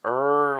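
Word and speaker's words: Ayre: So honorable mention these Er speakers finally got somebody to explain how you pronounce that it's that's a Er so it's Er like you are audio.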